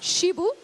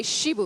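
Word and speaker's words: chiboust: seen some people pronounced Shibu and Shibu but here we say shibo yes it's pretty rare because usually in French you don't pronounce the final T's or S uh so it's um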